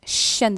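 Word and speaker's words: chat: ஸோ பூனையை ஷான்னு சொல்கிறாரு, அந்த கடைசியில் வர டீயை இக்னோர் பண்ணி வந்து ஷா.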